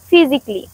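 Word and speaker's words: physically: যেমন ফিজিক্যালি, এক্ষেত্রে আমরা এর উচ্চারণ সাইলেন্ট রাখলে হবে ফিজিক্যালি।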